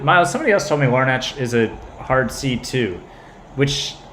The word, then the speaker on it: Larnach: here that's what miles somebody else told me larnach is a hard c2 which I had never